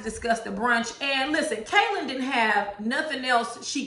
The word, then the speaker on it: Kailyn: good girlfriend's name wrong is kaelin and not k lon how antoinette has been pronouncing it see me thinks that